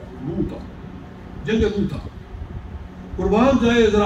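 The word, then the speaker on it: مؤتہ: جنگ موتا تھی، جنگ موتا، اس کا صحیح تلفظ موتا، جنگ موتا۔ قربان جائے ذرا آپ حیران ہو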